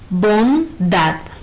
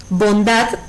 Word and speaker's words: bondad: Bondad no tiene tilde gráfica, pero al pronunciarla por el sonido podemos saber que su sílaba tónica es dad. Y como es la última sílaba, esta también es una palabra aguda.